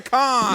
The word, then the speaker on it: Khan: Shaka Khan.